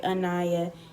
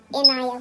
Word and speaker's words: Inaya: Like some people would say Anaya, Inaya, Inaya. We like it, Inaya with the I.